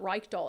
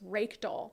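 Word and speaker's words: Reykdal: said his name wrong it's not Reich doll it's rake doll right doll like a rake you know I look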